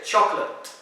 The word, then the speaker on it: chocolate: So it's not choco, no, you just say chocolate.